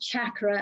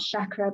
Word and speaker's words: chakra: They're actually pronounced chakra as well, not chakra, but I don't know, I've got used to calling them chakra.